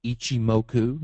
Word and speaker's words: Ichimoku: On candlestick pattern at the bottom, you see where it says Ichimoku, and no, I didn't sneeze. That's how you pronounce it.